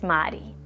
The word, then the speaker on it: Madi: Michigan, because everybody wants to call me Mari once they know there's a R in my name, but it's Madi. The R is rolled like a D. You can think about the fact that it rhymes with body.